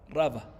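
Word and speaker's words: רבא: y rabá con he raba con alef la sílaba tónica está en la ra raba Sí con he es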